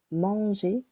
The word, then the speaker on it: manger: You can hear verb manger. The first syllable is a little longer.